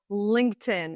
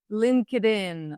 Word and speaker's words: LinkedIn: English speakers they say LinkedIn LinkedIn connect with me on LinkedIn no it's linked in so this word consists of two parts linked connect Link in the past